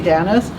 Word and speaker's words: Danis: is Danielle danis uh technically it's it's we pronounce it Denny but I say danis um I am the